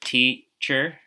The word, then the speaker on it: teacher: The word teacher can be broken up into 2 syllables, T and then cher.